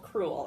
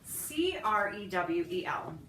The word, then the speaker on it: crewel: And there's something called, it's a type of needlework, and it's called crewel, and it's spelled K-R-E-W. Was it K or C? I'm sorry, C. You're right. Oh, sorry, honey. That's all right. C-R-E-W-E-L.